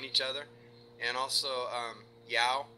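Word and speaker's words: João: other and also um Yao and I hope I'm pronouncing that right j o a o I believe saying yeah okay uh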